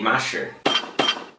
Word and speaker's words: 麻食: us how to make Mashi. Now off the bat, you need to be careful with the pronunciation of this word. Okay, if you mispronounce it, you can say a slang word for horse poop.